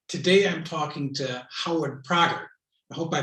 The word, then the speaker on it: Prager: i'm talking to howard prager i hope i pronounce your last name right is that correct prager yeah it's close close enough we go with a strong a so we say prager right but i know